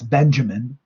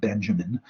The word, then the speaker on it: Benjamin: His name, it looks like it's Benjamin. And if he had been born in Texas or in Toronto, probably it would be pronounced Benjamin, but it's pronounced Benjamin.